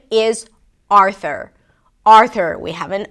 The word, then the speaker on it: Arthur: spelled with a U, there is no U - 'ar-thr'. It's called a schwa, and you can learn more about it if you click the link in the show notes in the description. Arthur. Primary stress is on the first syllable - AR-thur.